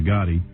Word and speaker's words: Gotti: You know Gotti rhymes with nude body?